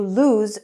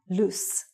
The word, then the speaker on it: lose: Did you lose your cell phone? Also, the pronunciation is lose and not loose.